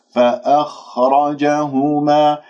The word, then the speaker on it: فأخرجهما: فأخرجهما، ولا تبالغ فيها في المخرج حتى يخرج معها شخير. فأخرج خطأ، فأخرجهما، لاحظتم كيف؟ الراء مفخمة لأنها مفتوحة وأتم الحركات.